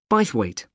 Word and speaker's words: Bythwaite: is being held in bythwaite Hall sorry how do you spell that b why th w a i t e bite weight is it easy to